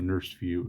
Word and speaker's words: NRSVue: Edition the nrsvue or the nursed view as I like to say somebody criticized my pronunciation of that Elsewhere on YouTube but I think it lends itself to being pronounced like that I I think it's